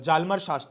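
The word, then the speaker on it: Hjalmar Schacht: करके एक व्यक्ति है जालम शाट ठीक है एच साइलेंट होगा तो इस को उसने पूरी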